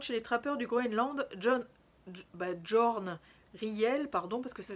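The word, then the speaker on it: Jørn: les années 50 chez les trappeurs du Groenland, Jorn Riel, pardon, parce que ça s'écrit J-O-R-N, a rapporté ses désormais célèbres racontars.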